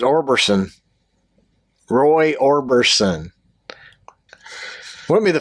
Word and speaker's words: Orbison: sound like an alien Roy Orbison arberson I don't think we're saying it right I think it's Orbison Roy Orbison wouldn't be